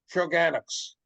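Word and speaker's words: Shawangunks: are called the let me say it right, Shogunocks, rather than the Catskills.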